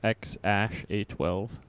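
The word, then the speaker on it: X Æ A-12: this rack yes sir elon musk's baby's name is pronounced x-ash a12 say that again x-a-12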